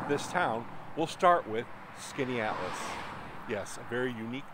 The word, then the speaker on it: Skaneateles: we're here in this town we'll start with Skaneateles yes a very unique name it's actually a Native American name meaning Long Lake and there is a lake here in Skaneateles New York it's a beautiful Town one of